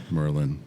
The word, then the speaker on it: Merlijn: your last name for you just try and pronounce my my first name that's that's hard enough yeah Merlin yeah yeah that's better that's better it's it's